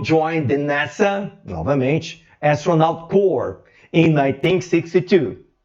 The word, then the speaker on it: Corps: Armstrong joined the NASA, novamente, Astronaut Corps, in 1962. Como eu errei na pronúncia, falei Corps, não, eu acertei.